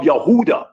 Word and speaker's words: Yehuda: their sins like the descendants of Yehuda or Huda which is the true pronunciation of Judah.